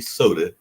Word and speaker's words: Soda: Because the Korean artist DJ Soda, and I think it's pronounced just like you would a soda drink or soda pop.